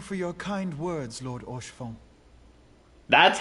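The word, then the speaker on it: Haurchefant: And thank you for your kind words, Lord Orchefon.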